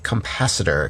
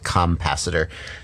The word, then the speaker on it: capacitor: what happened to my capacitor capacitor i'm joking i just said compacitor sometimes people don't realize how that word is spelled and they write me an email and they say compassitor it's capacitor thing capacitor if we look